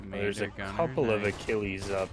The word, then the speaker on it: Achilles: I'm pretty sure the tank is pronounced Achilles.